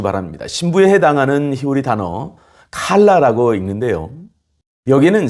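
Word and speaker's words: כלה: 꼭 기억해 주시기 바랍니다 신부에 해당하는 히오리 단어 칼라라고 읽는데요 여기는 세 가지 특별한 의미가 담겨 있습니다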